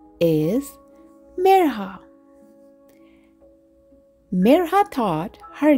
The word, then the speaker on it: Mirha: They stretched out the I until it sounded like an E and their R sounded wrong. Some people even forgot the H.